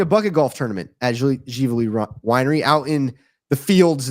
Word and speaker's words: Ziveli: That's Ziveli. It's pronounced Gively or Zavelli.